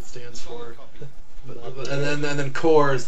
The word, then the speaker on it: Corps: and then then then Coors like like Marine Corps not like like Center my corpse yeah but like actually